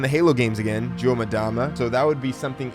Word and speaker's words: Mdama: I know a lot of people pronounce it Mdama, but I pronounce it Mdama. I think it sounds better that way, and I don't know, I think it's just really cool.